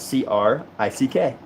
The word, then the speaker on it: creek: a creek it's Creek it is Creek it's Creek it's spelled c re e e k no it's it's spelled c r i c k well it shouldn't be cuz Crick Crick just sounds like you're trying to be different Crick and there's a whole